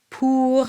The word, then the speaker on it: pour: Pour, and here's a nice oo sound. I always say it sounds like an owl. Hoo.